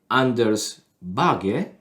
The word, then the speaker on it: Anders Bagge: I don't know, it's so funny because the first time I watched Anders Bagge, yeah, this is the right name, the pronunciation.